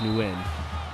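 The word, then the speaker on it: Nguyen: pronounce it but um his last name is newn and I think that's how you pronounce it correctly without like doing the authentic accent and everything but uh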